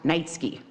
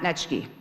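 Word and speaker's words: Neitzke: My last name is pronounced Nitsky, not Netchke. So if you're going to try to insult me, the least you can do is actually say it correctly.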